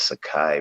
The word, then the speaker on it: Tsakie: And my real name is Sakai, but it's spelled Tsakie.